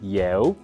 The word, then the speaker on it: 邀: 這裡客語比較難發音的是有，因為我們要先發出扁平的耶的聲音，再發圓唇的嗚，請跟我